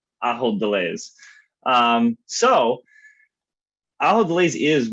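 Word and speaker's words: Ahold Delhaize: remind myself and the audience how to properly pronounce our gold pairing company's name i hold delays um so allah delays is one of the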